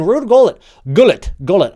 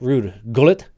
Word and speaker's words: Ruud Gullit: I believe he actually pronounces it Ruud Gullit, or at least that's how you're supposed to pronounce it if you're English. I'm not sure. It's very confusing. I'm going to keep saying Gullit because that makes it feels right to me.